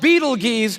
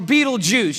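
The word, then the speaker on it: Betelgeuse: heard about this star it's called Beetle Gees or be be juice you can pick your pronunciation I'm obviously going with Beetle Juice and Beetle Juice is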